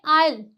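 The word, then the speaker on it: isle: तो यहाँ पे जो एस है हमारा वो साइलेंट हो गया। यहाँ पे आयल, आयल, यहाँ पे भी इसे क्या बोलते हैं?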